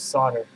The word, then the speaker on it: solder: after all these videos i'm still saying solar instead of solder or maybe i go back and forth oh well that's how it looks like it's spelled does anyone really care